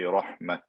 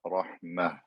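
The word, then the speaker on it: رحمة: So if it's spelled with a flat Ta, they're going to stop and say Rahmat. Other Qurra, even if it's spelled with a flat Ta, they will say originally it was supposed to be a Ta marbuta, so they will stop with a Ha, Rahmah.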